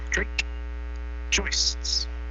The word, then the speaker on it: Drake Joists: I remember now that's a long A and a long O. Drake Joists.